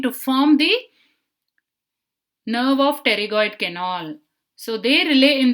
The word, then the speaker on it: pterygoid: It is from the nerve to medial pterygoid. They do not relay in the ganglion, they just pass through the ganglion and supply the tensor tympani, tensor palati. How to remember this? Pterygoid, the P is silent.